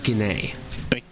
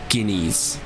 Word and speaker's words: Guinée: Sounds better than Corentin Guineas, so I'm inclined to believe it's closer to the correct pronunciation of a French name than I otherwise would have gotten.